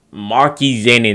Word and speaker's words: Maki Zenin: Maki Zenin, that's how you pronounce his name.